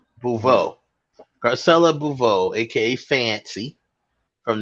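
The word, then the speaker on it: Beauvais: How'd she pronounce her last name? Bouveau.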